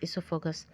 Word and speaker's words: esophagus: Hair O is silent, so we have to pronounce this as esophagus.